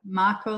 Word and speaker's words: Macco: Macco like taco.